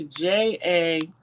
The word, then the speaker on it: Jachin: It's Jachin. J-A, yep, Chin, Walls, Walls, Senior, okay?